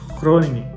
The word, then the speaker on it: Groningen: que nem por exemplo, existe a cidade aqui que se escreve na nossa leitura em português Groningen, a pronúncia correta é Groningen.